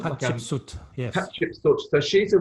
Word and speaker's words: Hatshepsut: Kiva and Conacher, if that's the correct Celtic pronunciation for those. It is. And also some of Hatshepsut, is that her name? Hatshepsut, yes.